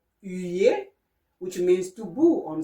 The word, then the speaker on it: huer: And the sound H-U, you, like in the word humain, which means human. Okay? or in the verb huer, which means to boo on someone, okay?